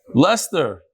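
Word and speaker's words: Leicester: how you pronounce it lester instead of l-e-s-t-e-r l-e-i-c-e-s-t-e-r road okay schmuck that's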